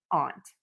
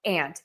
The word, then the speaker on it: aunt: Aunt and aunt. You can actually do either. I say them the same.